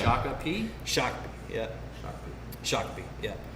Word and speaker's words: Shakopee: We'll get into this, but Shakopee, Minnesota is where this beer's from. Say Shakopee? Shakopee, yeah. Shakopee, yeah. You can pronounce it different ways, but Shakopee's the deal.